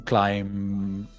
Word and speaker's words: climb: out of the the picture sometimes the be is silent in climb oh so it's not not climber but climb